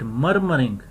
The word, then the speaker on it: murmuring: Here U and R is producing a sound, urge, occur, murmuring, murmuring, don't say it murmuring, R is silent, murmuring, burden, burden, furnace, furnace, burn, burn.